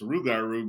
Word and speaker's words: rougarou: But now, since we're mostly just English speakers, it's rougarou because that's a little bit easier for us to pronounce.